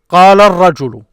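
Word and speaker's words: قال الرجل: Notice there is two moving letters after each other. So this here gets its own syllable. So these are short. This is long. This ju here is separate. And this one is separate. So qala rajulu. This is what you hear.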